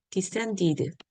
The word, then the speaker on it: descended: 자, 여기서 descend 드로 끝났죠? 드로 끝났기 때문에 ed가 붙었을 때 descended 발음이 됩니다.